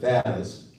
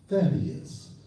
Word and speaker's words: Thaddeus: I know most of y'all said Thaddeus. The name is Thaddeus.